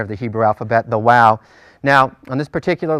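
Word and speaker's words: Waw: it like a V some people prefer to pronounce it or call it Wow and pronounce it like a w throughout basics of Biblical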